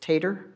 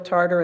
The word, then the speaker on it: Tarter: Jill Tarter or it's am I mispronouncing it is it tater oh it Is Tarter okay it was still as in potatoes what would it why